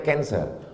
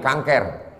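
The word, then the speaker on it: cancer: Tulisannya C A N C E R. Orang Barat membacanya kanser. Orang kita susah menyebut kanser. Kenapa nih kanker?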